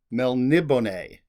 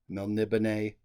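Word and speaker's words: Melniboné: this title Elric of Mel nibone they'll libene that's how I say it there's a little accent on the e at the end of the the word melnibane uh by Michael morcock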